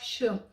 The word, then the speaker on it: ㅅ: we will each read a line: So we see here that in some of the syllables, "ㅅ" was pronounced "sh".